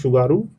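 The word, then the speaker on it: Tsugaru: की जाने वाली आवाज़] शुगारू स्टेट क्योंकि टी साइलेंट है इसको आप याद रखेंगे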